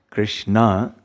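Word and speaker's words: Kṛṣṇā: is also called krishna when there is a long a the long vowel a it's feminine so krishna is the masculine that's the supreme personality of godhead but when you stretch the a krishna that's the name for a yamuna it's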